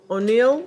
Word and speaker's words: O'Neill: so bonding please own you ill or supposed to be Annie or sir how do you say your last name oh no O'Neill okay your before the